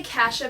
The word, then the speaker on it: cassia: green powdery stuff and i say kasha because i'm from idaho and we have a